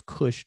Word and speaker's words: Kush: um everybody knows about takash which we pronounce as kush the kushites everybody knows